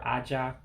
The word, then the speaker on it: aja: we do have to pay attention to the accent marks over aja so really i if to say it correctly i'm supposed to say aja aja what's it say to the high tone because uh evo is a tone language you know saying something a lower tone changes the meaning so